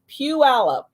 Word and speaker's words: Puyallup: So just in case anybody was wondering how you pronounce that right there, that is Puyallup.